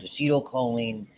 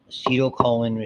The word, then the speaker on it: acetylcholine: for our purposes now, you'll hear it pronounced differently. I learned acetylcholine, that ACH, it's a combination of two things. Acetyl, which comes from acetic acid, which by the way is vinegar, okay? And choline, which is a chemical that's used a lot biologically, okay?